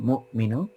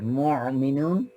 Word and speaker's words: مؤمنون: এটা sharp stop করব মুমিনুন। But sharp stop করার সময় খেয়াল করব যেন আমরা গলা থেকে শার্প স্টপ না করি। গলা দিয়ে যদি শার্প স্টপ করি এটা কিছুটা আইনের কাছে চলে যাবে। মুমিনুন এরকম করলে আইন উচ্চারণ করতেছি।